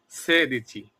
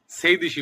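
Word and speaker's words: sedici: 15 সে দিচ্ছি 16 সে দিচ্ছি 16 এখানে অনেকে ভুল করে বেশিরভাগ লোক সেইদিশী বলে আসলে সেদি নয় সেদি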